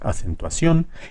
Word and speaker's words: acentuación: sí misma es fuerte acentuación c es la más fuerte porque no decimos acentuación ni acentuación de decimos acentuación y cada palabra tiene